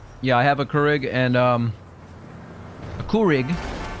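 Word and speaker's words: Keurig: You pronounce it Kurig. That's probably the right way to pronounce it.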